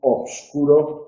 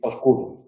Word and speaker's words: oscuro: Nosotros podemos decir obscuro o podemos decir oscuro. ¿Qué estamos haciendo cuando decimos oscuro? Pues convertir una sílaba que tiene esta estructura en una sílaba con una estructura mucho más frecuente. Vale. Hay veces que la academia, digamos, lo recomienda, como en el caso de oscuro, que recomienda decir oscuro, hay otras veces que no.